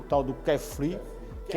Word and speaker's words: kefir: E não se esqueça, o kefir. Essa pronúncia. Kefir. Soletra aí, por favor. K-E-F-I-R. Kefir. Kefir.